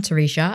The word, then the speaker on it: Teresha: So I am Terisha and it is spelled T E R E S H A.